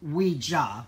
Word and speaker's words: Ouija: it's um it's pronounced we jaw which is French and German yes and no so depending on how